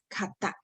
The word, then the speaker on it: 方: You can pronounce it as kata, okay?